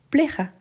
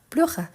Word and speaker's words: plaira: Plaira, quelque chose que te plaira. Donc, le correct, c'est plaira et pas pleura. Je fais exprès. Pourquoi? Parce que la prononciation, les côtés son, c'est très proche.